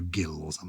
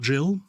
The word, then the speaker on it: gill: ounce we've now had the gill pronounced gill not jill i think it's the